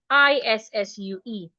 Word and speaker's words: issue: The s and s there changes to sh isue.